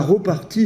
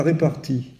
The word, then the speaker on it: repartie: mais enfin euh c'est c'est la repartie et pas la répartie bon euh c'est vrai qu'on a tendance à dire la réparti ça pose d'ailleurs le